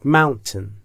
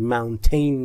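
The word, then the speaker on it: mountain: کمتری داره داره داره من اگر نمی‌تونید این شکلی تلفظ کنید چون اون تی حالت تو دماغی داره من همون تشو میتونید بگید مونتن ولی تش نگید مونتین نیست متن یا من به این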